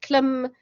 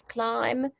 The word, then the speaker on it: climb: was a short violet would be klim but the magic e makes the vowel in the middle of the word a long vowel so now it's climb climb trees but we know that climb is spelled with a b on the end and that is one